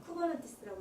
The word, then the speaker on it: 쿠버네티스: 쓸 때는 K8S라고 쓰고 읽을 때는 쿠버넌티스라고 읽고 K랑 S 사이에 글자가 8글자가 들어있거든요.